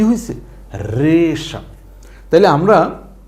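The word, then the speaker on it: হ্রেষা: একটা শব্দ হয়ে গেছে রেশা হ র ফল এ কার রে মূর্ধন্য আকার সা হইলো রেশা এই রেশা হইলো ঘোড়ার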